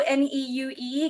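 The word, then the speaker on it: Neue: She eventually won, and it is now hanging in the, I'm gonna mispronounce it, New N-E-U-E Gallery in New York City.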